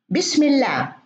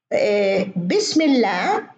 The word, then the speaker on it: بسم الله: طيب أيضا من مهارات التحليل الصوتي نطق الأصوات التي ليس لها ضمن حروف الكلمة حرف يمثلها، مثلا مثل يعني هنا العكس، ننطق صوت لكن ليس له رمز مكتوب. بسم الله، بسم الله هي فيها الألف الصغيرة هذه لكن نحن لا نكتب ألف.